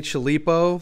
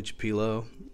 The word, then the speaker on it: Chipilo: so i uh pronounced this thing chilipo the whole video and like all week thinking about it it's totally chapilo um i don't know which pillow means either but it's not the chilipo it's the chapilo enjoy i'm like a